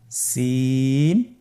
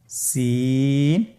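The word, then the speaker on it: سين: বাকি 2টি হরফ নাম হলো সিন এবং শিন। সিন এবং শিন। সিন হরফটি উচ্চারণ ক্ষেত্রে অবশ্যই 3 আলিফ টেনে পড়তে হবে। সিন হরফটি বারিক হরফ, পাতলা করে উচ্চারণ করতে হবে।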